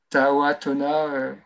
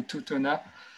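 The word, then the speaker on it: Tautona: C'est la mine de Tahoatona. Alors, je ne sais pas si je dis bien, ou Totona. C'est T-A-U, Tona, comme ça se prononce.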